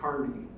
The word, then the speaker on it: Kearny: So in Arizona, we pronounce it Kearney, I think incorrectly, but that's what it is. But General Kearney, according to his relatives, his descendants, they say the family pronounces it Kearney.